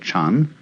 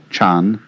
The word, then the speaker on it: Chan: So then, this word Zen is Japanese way of pronouncing the Chinese word Chan, which in turn is the Chinese way of pronouncing the Sanskrit word jhana.